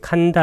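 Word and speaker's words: khandha: 반짝가 오란 뜻이고, 이 칸다 할 때 KH는 카로 발음합니다.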